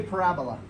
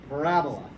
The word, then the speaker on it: parabola: how you spell it say pera bola that's how you spell it p-a-r-a para ebola b-o-l-a but you're going to say parabola you're going to smooth it all together right don't say parabola